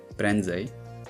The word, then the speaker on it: prędzej: N is fully nasalized in the middle of a word, prędzej, but is pronounced as a regular e at the end, będę.